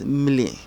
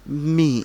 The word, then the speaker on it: mli: First of all, this sound MLI, okay, we don't pronounce it as mili, we say it as me in spoken Ga. So the written Ga is mili, but the spoken Ga is me.